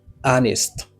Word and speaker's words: honest: Honest. Honest. Vous avez déjà me dire honest. H n'est pas prononcé, ça veut dire H non muet.